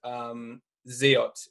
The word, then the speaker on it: XIOT: So the way that I pronounce it, and the way that I feel it's supposed to be pronounced, is it is Xiotri, and yeah. Our first token is Xiot, and the second token is a bXIOT. Yes. Okay, so I am correct in Xiot.